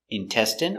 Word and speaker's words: intestine: jasmine tea very good so remember these special words ending with i n e we pronounce them all the same in in remember medicine margarine intestine or intestines more than